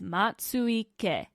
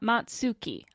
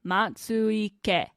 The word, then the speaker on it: Matsuike: Sound it out, vowel by vowel. Matsuike.